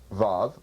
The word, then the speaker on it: Vav: we can't trace it the above pronounced VAV spelled vavav in Hebrew has either a vowel sound of o or ooh or it's pronounced as a v little effish kind of v in fact it's in